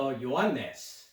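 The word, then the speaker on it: Ἰωάννης: John chapter 1, verse 6, Stouter's Bible, as you're looking at the screen here, talking about the Ioannes. That is the Greek pronunciation. English pronunciation is John, who is John the Baptist.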